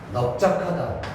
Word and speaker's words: 넓적하다: 넓적하다, 넙죽하다, 소리. 넓적하다, 넙죽하다, 넙둥글다 해서 리을이 아니고 비읍을 발음했단 말이에요.